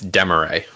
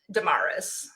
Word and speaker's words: deMarrais: oh that's disappointing um it's demeray i think it's because i like i don't say it like that in my head how do you say it in your head um damaris yeah that's pretty typical i shouldn't say it